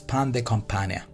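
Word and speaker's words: pain de campagne: The pronunciation of this is pan de campagna, means the country style loaf.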